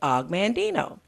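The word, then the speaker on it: Og Mandino: my favorite authors is Augmon Dino Alec stands for Augustine but he they shortened it to aughh aug and then he just said og of Mandy no he spelled it phonetically Augmon Dino wrote the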